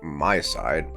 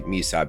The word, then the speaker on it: MiSide: morning everybody this is what I'm going to decide to pronounce as my side her name is Maita so I might say me side but my side seems much more appropriate if thou had not